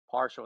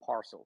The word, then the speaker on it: parcel: I have a habit of saying partial instead of parcel, so I probably did say that in the Looks debate.